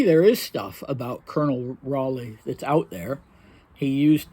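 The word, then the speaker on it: Raleigh: was spy and this was this fellow called Raley Dimitri spells it a r a l i phonetically but of course that was not the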